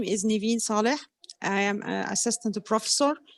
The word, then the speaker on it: Neven Saleh: role there and of course get your name pronounced correctly okay my name is niveen saleh i am an assistant professor at biomedical engineering